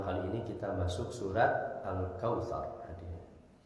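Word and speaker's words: الكوثر: Nah itu catatan pertama yang kedua ro ketika waakaf sebelumnya fathah dibaca tebal tafhim cara bacanya tidak tsar tapi tsar tar tar alkautsar tar nah rnya tebalkan cara membaca ro ketika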